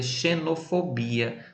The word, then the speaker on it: xenofobia: antes ó vou dizer vamos ver aqui xenofobia.no portuguesa xenofobia espanhol xenofobia então vejam aí que a